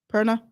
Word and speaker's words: Perna: yes how do you say her name Gina p-e-r-n-a Purna Erna Gina Perna yeah she's amazing if you